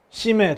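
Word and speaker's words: Chimay: 트라피스트 맥주, 네, 바로 시메 되겠습니다. 시메이라고 표기가 되어 있는데, 거기 현지 발음, 여기는 이건 이제 왈로니아거든요. 불어권에 있거든요. 그래서 그냥 시메라고 있습니다.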